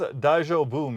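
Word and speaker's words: 大丈夫: What does daijobu mean? Daijubu means it's okay, or are you all right? Like when someone asks if you're fine after a stumble. Pronounce it dai-jo-bu.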